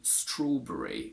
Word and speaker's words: strawberry: and american for example when it comes to berries we say strawberry where we basically always remove the schwa but they keep a